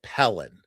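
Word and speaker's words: pilling: So it's spelled P-I-L-I-N-G, but we pronounce it Pellin.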